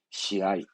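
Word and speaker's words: 試合: 인데 시합은 시아이. 예. 시니까 시, 합은 아이.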